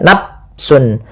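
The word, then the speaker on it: نفس: Misalnya nafsun ini dengan diganti dengan P ya padahal dia bukan.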